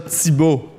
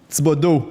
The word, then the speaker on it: Thibodeau: Thibault. Do. Thibodeau. Il manque une syllabe.